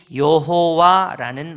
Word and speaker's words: 여호와: 라고 할 때 하나님께서 주신 말씀이 여호와라는 말입니다. 여호와. 그리고 이거를 모음을 다르게 바꾸면 야훼라고도 발음하기도 합니다.